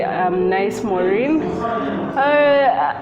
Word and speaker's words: Nice Moreen: So you did pronounce my name properly. Nice, Moreen.